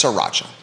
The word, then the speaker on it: sriracha: sriracha sriracha sriracha yeah but it's spelled sri yeah but it's sriracha like sri lanka sriracha um but a lot